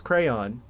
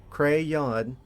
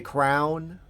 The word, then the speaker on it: crayon: I pronounced it as crayon. I'm not one of those people that see that see that obvious two syllable word cray yawn and pronounces does that say crown?